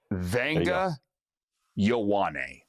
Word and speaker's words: Ioane: The guard out of Penn State, Andrew, I'm going to let you pronounce this because I butchered his name like 100 times at the combine. Okay. It's Vanga Ioane.